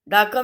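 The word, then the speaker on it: darker: Same डार्कर में भी R की साउंड नहीं आ रही है.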